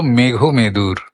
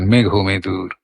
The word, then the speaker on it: মেঘমেদুর: মেঘমেদুর তো উচ্চারণটা আমরা মেঘ মেদুর করি না। কারণ একসঙ্গে জোড়া আছে।